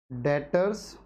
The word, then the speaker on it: debtor: डेटर्स versus creditor, दो word आ रहे हैं आपके पास।